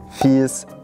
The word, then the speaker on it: Fieß: prick aus dem kürttel gtel aus der Füß fies wir finden immer ein Weg und was sagst